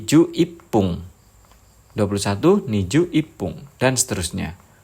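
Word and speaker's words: 十一分: 11 menit itu angka belakangnya 1, jadi mengikuti cara baca menit ke 1. Jadi ju ipung.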